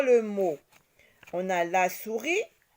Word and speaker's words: souris: On a la souris. Souris s'écrit déjà avec un S qui est une lettre muette ici.